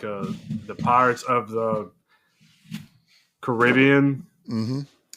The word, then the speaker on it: Caribbean: the pirates of the Caribbean. Mhm. Did I say it right for you, Suggs? No. Caribbean. I died. I knew it. I I knew I was unless it's the Caribbean.